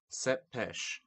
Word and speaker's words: Tepes: would eventually earn the name of Vlad Tepes pronounced set pêche or better known as Vlad the Impaler due